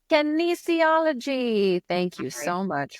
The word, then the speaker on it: kinesiology: Kinesiology. Kinesiology.